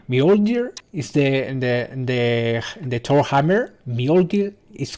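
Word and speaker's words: Mjölnir: Mjolnir is correct pronunciation.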